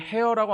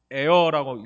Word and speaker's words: heir: 그러므로 내가 이후로는 종이 아니요 아들이니 아들이면 하나님으로 말미암아 유업을 받을 자라고 할 때 이 유업이 바로 H-E-I-R, 이걸 heir라고 안 하고요 heir라고 읽습니다. heir, an heir of God through Christ.